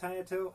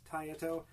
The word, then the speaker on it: Taito: the title legends i i think it's pronounced tayato i i've heard it pronounced tayeto it's t-a-i-t-o but anyway they're the